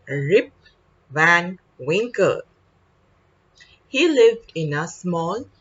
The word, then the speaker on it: Rip Van Winkle: the lesson we started rip van wrinkle okay rip van winkle we will pronounce the name correctly our learning outcome today